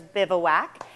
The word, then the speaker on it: Bivouac: So the first question that everybody asks is, how do you pronounce it? And the answer is Bivouac.